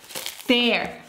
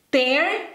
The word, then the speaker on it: tear: Tear, cuando lo pronuncias así, significa rasgar. Tear. Rasgar. Tear, lágrima. Tear. Tear, rasgar. Tear, lágrima. Se escriben igual, pero se pronuncian diferente y el significado también es diferente.